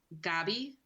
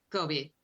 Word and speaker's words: Gobi: So, Gabi, is that how you say his name? I think it's Gobi, like the desert. Gobi.